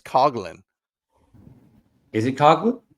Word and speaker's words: Coughlin: By the way, I think he said because it's the Irish pronunciation, it's Coglin. Is it Coglin? It's Coglin.